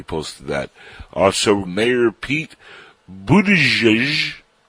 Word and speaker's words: Buttigieg: Also, Mayor Pete Buttigieg. How do you pronounce that, Brandy? Do you know how to pronounce that? Buttigieg? Buttigieg. Right? It's something like booty guy?